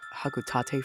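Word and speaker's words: Hocotate: his company hotate Freight now I know it's pronounced hakuta Freight but I refuse to call it that it's going to be haate Freight and their Adventures on the planet PNF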